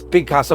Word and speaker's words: Pigcasso: So this is Picasso, but it's spelled like Pigcasso.